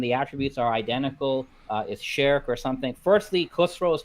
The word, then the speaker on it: shirk: attributes are identical, is shirk or something. Firstly, Khusro is talking about minor shirk, not major shirk. And it's shirk, it's not shirk.